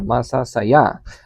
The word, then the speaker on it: masa: the for example masa and masa the stress is here ma and the stress is here masa. So the stress don't go anywhere. Yeah. The first word and the second word have the same stress on the last syllable.